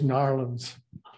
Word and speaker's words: New Orleans: You have to New Orleans. It's always Narlands.